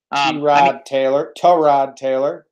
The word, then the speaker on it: Tyrod Taylor: Tyrod Taylor is how you pronounce it.